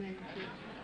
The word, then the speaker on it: Medici: From Medici. M-E-D-I-C-I. Pronounced Medici.